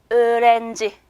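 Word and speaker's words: öğrenci: 자, 학생은 터키어로 으렌지 이렇게 발음이 돼요. 그래서 여기 있는 유무샤케, 즉 앞에 있는 모음을 좀 길게 발음해라 라는 뜻이 되겠죠.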